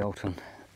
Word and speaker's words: Alton: the Alton camp chair now some people are going to say pronunciation Alton Alton I've heard people from that company themselves one says Alon and other said Alton so either either it's the same company all in all the